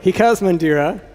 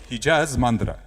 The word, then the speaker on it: Hijaz Mandira: Well, here we go with Hikaz Mandira. Hijaz Mandira. Oh. Okay, with the proper pronunciation.